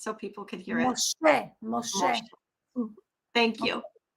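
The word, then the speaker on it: משה: Moshe, Moshe.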